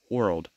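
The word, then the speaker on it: whorled: that it has a world uh arrangement not referring to world as in the planet but rather it's spelled w-h-o-r-l-e-d world so an analogy I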